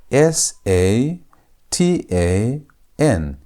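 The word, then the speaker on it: שטן: S a t a n. How do you pronounce that? Try to pronounce it. It's Satan. Satan.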